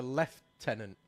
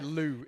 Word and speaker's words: lieutenant: lieutenant but it's a left tenant. He can say Lou. It's it's a left mate. He can be a he can be a right tenant for me.